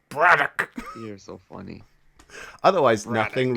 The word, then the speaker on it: Braddock: So like, yeah, it's not Braddock. It's Braddock.